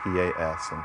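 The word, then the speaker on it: pas: Classic example of this is the French negative marker pelled p and pronounced pa.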